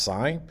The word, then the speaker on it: psi: It is pronounced psi, and it's a Greek letter.